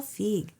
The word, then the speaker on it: Feig: Paul Feige, right?